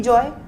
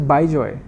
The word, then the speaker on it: Bejoy: No, BIJO is by joy. Bejoy. Yeah. So in fact, my father gets really upset when somebody spells my name wrong, and I get upset. I'm like, it's Bejoy. BIJO is not Bejoy. So BEJO is Bejoy.